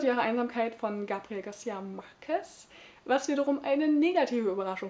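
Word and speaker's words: Márquez: Ich habe übrigens immer Marquez gesagt und jetzt mal gemerkt, dass ja eigentlich die Betonung auf dem Marquez liegt.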